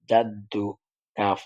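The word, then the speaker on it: جدك: লাম জবর লা ওয়াতালা জিম জবর দালের তাজদি জাদ্দাল পেশ দু জাদ্দু কাফ জবর কা জাদ্দুকা জাদ্দুকা প্রয়োজনে আপনারা এভাবে পড়বেন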